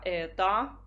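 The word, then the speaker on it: это: con un sostantivo neutro dopo diventa ETA pronunciato uguale al femminile ma si scrive con la o finale ETA la forma al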